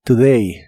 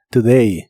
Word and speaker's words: today: y usaremos la palabra today que significa hoy la o se pronuncia como una u muy muy suave today today y usaremos la palabra